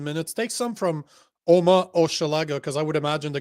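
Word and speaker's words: Hochelaga: Or if not, how do I pronounce that? Oma Oshalaga? Oma Oshalaga.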